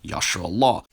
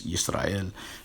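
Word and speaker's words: ישראל: The salient portion reads, quote, UPKers and proponents of Lashon Kodash claim that this word is pronounced Yashra'Allah. And then I show various renderings. The pointing in the Masoretic text implies Yisrael.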